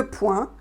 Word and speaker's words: poing: Donc bien sûr, un coup de poing, prononciation point, voilà, comme un point en fait.